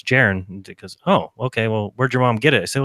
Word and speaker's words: Jeran: really liked your name I said no it's gerund because oh okay well where'd your mom get